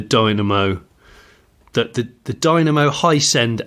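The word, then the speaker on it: Hiscend: off the the Dynamo it's spelled h i s c ND as in ascending oh right I thought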